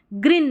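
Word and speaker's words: green: Sleep क्योंकि double E को हम बड़ी ई की जैसे ग्रीन नहीं ग्रीन फिट नहीं फीट। ऐसे लॉन्ग ई का उच्चारण खच के।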